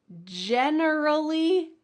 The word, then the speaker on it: generally: The next category of difficult pairs are words that include an extra syllable. And if you forget that extra syllable, it might be a new word. So let's start with the first pair. Generally, genuinely.